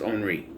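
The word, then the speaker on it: Henri: read the lombre or henry whatever you pronounce it the way it's spelt with i it should be pronounced omri i'm just saying uh he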